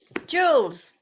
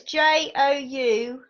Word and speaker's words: Joules: Jules. As in, Jules the clothing company, because they're opening a new head office in Market Harborough. Okay, how do you spell that one? So it's Joules.